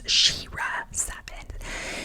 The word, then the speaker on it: SheRa Seven: name correctly because I was saying Shea but it's sheira seven and she always I